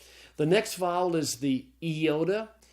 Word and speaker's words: iota: content to know that the iota is the Greek I, and it can be pronounced both I and E, okay? Good. So it's iota, and then kappa, it's the K sound.